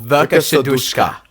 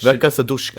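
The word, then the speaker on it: Verka Serduchka: Her name It's called Verka Shadushka. How do you say it? Verka Sadushka.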